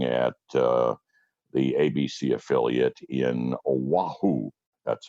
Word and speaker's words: Oahu: Made a jump across the street to doing weekend anchoring and reporting at the ABC affiliate in Oahu. That's how it's pronounced.